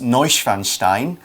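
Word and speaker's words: Neuschwanstein: some point that is noise fan Stein which is kind of how you say it I'm I got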